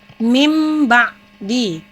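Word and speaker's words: مِن بَعْدِ: Jadi cara membacanya mim ba'di, karena nun mati atau tanwin tersebut diubah menjadi bunyi huruf mim.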